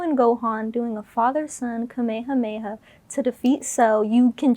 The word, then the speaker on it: Kamehameha: I bought a San Diego Comic-Con exclusive edition figurine set of Goku and Gohan doing a father-son Kamehameha to defeat Cell.